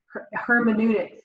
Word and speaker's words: hermeneutics: Hermeneutics, that's how you say it.